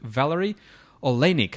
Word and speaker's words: Valary Oleinik: So I'm pretty excited about this interview with Valary Oleinik. Am I pronouncing that right, Valary?